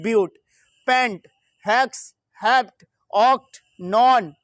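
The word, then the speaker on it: but: देखिए ये बट की स्पेलिंग है लेकिन यहाँ हम लोग क्या बोलते हैं ब्यूट, पेंट, हेक्स, हेप्ट, ऑक्ट,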